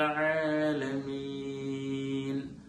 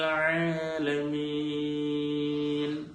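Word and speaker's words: العالمين: അൽഹംദുലില്ലാഹി റബ്ബിൽ ആലമീൻ.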